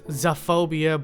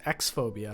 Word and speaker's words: X-phobia: that it says x-phobia i know it looks like it says xophobia but i did a little research and apparently the original artist likes to pronounce it as x-phobia and in the bottom